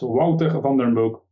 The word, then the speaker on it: Wouter Van den Broek: going to ask him to re-say his name, Wouter Vandenbroek. Welcome to the show. Thanks, Nader. I think it's almost good, so it's Wouter Vandenbroek.